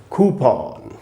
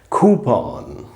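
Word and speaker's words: coupon: कूपन इसका बिल्कुल ही गलत उच्चारण है। इसका जो सही उच्चारण है वो है कूपन। कूपन कूपन।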